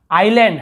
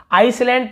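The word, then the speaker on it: island: आइलैंड, हम आइसलैंड पढ़ते हैं ना, शुरू में हम आइसलैंड ही पढ़ देते थे, लेकिन आइलैंड यानी होता है द्वीप।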